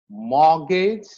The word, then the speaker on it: mortgage: And then you have asthma, Christmas, mortgage, and it's not mortgage.